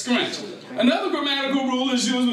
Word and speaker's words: skrent: When words that begin with STR are pronounced, the T is substituted with a K. Therefore, as we said earlier, street is pronounced as stripe is pronounced as stripe. And as we learned, strength is pronounced as skrent.